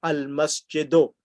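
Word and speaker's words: المسجدُ: So remember that whenever there's alif lam, the last letter gets one dhamma, al-masjidu.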